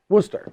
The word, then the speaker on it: Worcester: actually say it it's a Worcester Worster yeah Worster but everybody says Worster where did I don't